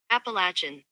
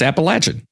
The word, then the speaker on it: Appalachian: here here I got this is the official pronunciation by the way hopefully it'll come through here okay appalachin so it's appalachin appalachin yeah there you go that's preferred that is